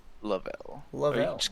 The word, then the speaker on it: Lovell: lovell is how you want your native you pronounced lavelle i love it just call me yeah lavelle